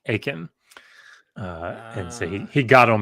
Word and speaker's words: Achan: not supposed to, and his name in Hebrew is Achan. But nobody says that, and they pronounce it in English. They say like Achan, and so he got on me about that.